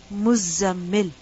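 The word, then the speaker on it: مزمل: And this word is actually mutazammil, mutafa'il, mutazammil. And the ta has been assimilated with the zai. So the word mutazammil changes into muzzammil. This is why it's necessary to pronounce the shadda.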